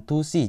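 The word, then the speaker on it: 두 시: Untuk angka 1 sampai 4 itu huruf akhirannya kita hilangkan. Cara baca jam ini. Jadinya ini hansi jam 1, kemudian tusi jam 2.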